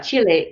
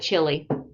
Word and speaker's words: Chile: Is it Chile? yeah, you said right. Yeah, Chile. In the United States, we just call it chili, and we don't know why they're named after food, because in Yeah.